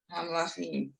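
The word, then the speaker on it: המלכים: If there's look at the next word, after Malche, there's a silent vowel under the mem. So what would be that first syllable? Exactly. Okay. Lachim. Hamlachim.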